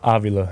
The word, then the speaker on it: Avila: And I'm pronouncing this right. Robbie Avila? Avila, yep.